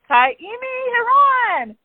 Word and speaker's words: Kaimi Heron: I have on this week's podcast, I have Kaimi Heron.